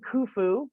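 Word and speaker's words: Khufu: is known as well king kufu but it's spelled you stay at kiosk k-h-u-f-u as an event which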